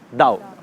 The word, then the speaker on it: Tao: हम इसको पढ़ते हैं तो इट इज़ ताओ, TAO, बट we pronounce it एज दाओ।